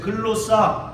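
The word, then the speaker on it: γλῶσσα: 글로 싸라고 하는 헬라어를 사용했어요 자 따라해 보세요 글로사 글로사이 글로스라 말은 혀 혀를 가르킵니다 그래서 영어 성경에 텅이라고 발음을 해요 통즈라고 이렇게 복수형으로 발음을 합니다 예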